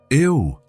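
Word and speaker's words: eau: Ew, Elena said. It looks strange, doesn't it? It's spelled E-A-U, but pronounced O.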